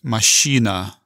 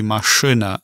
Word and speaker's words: машина: So you would never pronounce it машина. It's still going to be машина.